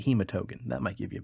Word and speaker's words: Hematogen: of the confectionary delight known as the hematogan bar no i should probably pronounce it hematogen that might give you